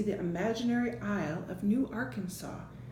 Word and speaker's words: Arkansas: imaginary Isle of New Arkansas. Sometimes when an S is at the end of the word, like in debris and Arkansas, we don't pronounce that S.